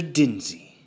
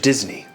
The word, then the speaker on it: Disney: So you are, in fact, Mr. Dinsey. No. Mr. Disney. If you're gonna say it right.